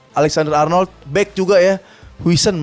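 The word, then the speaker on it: Huijsen: Wisen bacanya gimana sih? Wisen tuh pronoun-nya Wison aja biasa ya.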